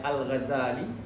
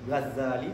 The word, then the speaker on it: Ghazali: membicarakan tentang Imam alghazali ada yang bacanya alghazali Gazali tasdid ada yang Gazali perbedaan ini berangkat dari penisbatan Daripada gazal kalau kitaisbah karena ayah Imam